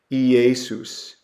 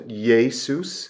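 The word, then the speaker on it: Ἰησοῦς: So this is pronounced Jesus, Jesus. You could also put kind of a y sound to Jesus, Jesus, because this is a unique example. In Hebrew, the y sound is a yod, and when Hebrew words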